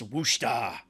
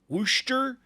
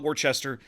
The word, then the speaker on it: Worcester: tier 10 american cruiser uss wusta wusta wooster i don't know whatever i'm sure i'm mispronouncing it depending on which part of the northeast you have to be standing in but whatever don't call it warchester that's wrong anyways i've i've been